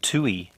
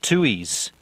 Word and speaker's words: Tui: is a kiwi beer it's called tui not tuis there is an australian beer called tui spelt entirely different this is spelt t-u-i now the thing with